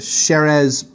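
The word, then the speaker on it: Xérès: southern part of spain the the sherez part of spain x-e-r-e-s um so sherry's and anglos is anglization an english version of of that word there's a ton of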